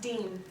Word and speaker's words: Dill: It's actually pronounced Dean.